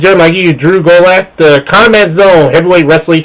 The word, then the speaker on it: Gulak: Just follow me on Twitter at Drew Gulak. That's DREWGULAK. It rhymes with attack.